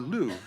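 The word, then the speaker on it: Lugh: It honors the Celtic god, Lou, Lu Gh, and his foster mother, Tai E Tu, T A Tiu.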